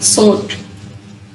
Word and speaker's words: sword: Common random words with a silent W: true, answer, sort, sword नहीं इसको कहना, sort.